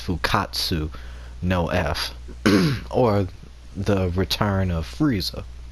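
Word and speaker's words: Fukkatsu no F: Resurrection F, or and the Japanese version is pronounced Fukatsu no F, or the return of Frieza.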